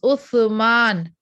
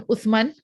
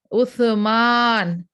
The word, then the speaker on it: Uthman: with utham it is uthman it is not three dots it comes with the tongue in between your teeth that's the way you pronounce so it is uthman it cannot become utman uthman so that is one